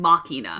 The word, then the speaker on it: Machina: What is the pronunciation? Machina. Machina. Like Dave's ex Machina.